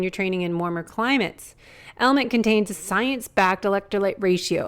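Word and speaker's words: LMNT: our sponsors LMN element it's spelled l MNT but pronounced element if you haven't heard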